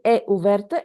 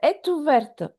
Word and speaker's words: est ouverte: Again, here la liaison. After T, we have a vowel. We don't say è ouverte, est ouverte altogether. Est ouverte. Because after T, we have vowel. La porte est ouverte.